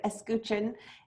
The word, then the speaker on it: escutcheon: A logo is a flag, a signature, and I always get hung up on this word, escutcheon is how you say it, which just essentially means a shield or like an emblem, a street sign.